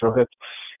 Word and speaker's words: Rohit: in my name is Rohit if you have difficulty ever pronouncing that if you ever need to pronounce Rohit it's rowing a boat and hitting someone and that's how you get